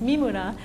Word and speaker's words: Mimura: And and there's one person in the audience who knows that probably the correct pronunciation of my name is Mima, even though I don't say it that way because I'm fourth generation by now, American.